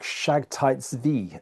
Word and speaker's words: Sabbatai Zevi: Messiah to be called Sabbatai Zevi, or a Jewish friend taught me how to pronounce it one time. It's probably pronounced something more like Shagtai Zvi.